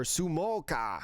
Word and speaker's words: Smoker: You've got Smoka, or Sumoka is how you, I guess, would pronounce it better in Japanese.